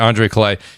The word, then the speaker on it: Andre Clay: I'm already shout out to the great Andrew and Andre Clay. Pardon me. I want to say his name right. Andre Clay, you know.